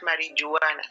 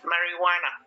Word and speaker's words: marijuana: It's not marijuana. Marijuana. The J is silent.